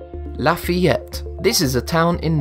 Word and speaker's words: Lafayette: However, despite the town being in the USA, it is not pronounced as Lafayette. The problem here, and what most people don't realise, is that the town's name has French origins, and these have proven difficult to pronounce for most of us. The correct pronunciation is Lafayette.